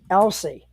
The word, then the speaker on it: Elsey: couple weeks guys I am talking about Mitchell Elsie and I hope I got your last name pronounced right yep you got it right you're